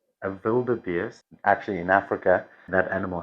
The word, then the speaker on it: wildebeest: If you took it right to English, it would be wild beast. But nobody calls it a wild beast. That sounds very strange. Wildebeest. Wildebeest. Yes. This is the correct pronunciation.